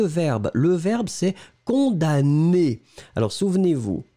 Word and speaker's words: condamne: et le verbe c'est condamner alors souvenez vous on écrit le m mais on ne le prononce pas d'accord donc verbe du